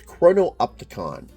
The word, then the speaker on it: chrono-opticon: So it's chrono-opticon.